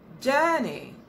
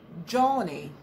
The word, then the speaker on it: journey: Journey. Please take note, the sound in there is So don't say Johnny. You should say journey. That's the sound you have in girl, bird, burn.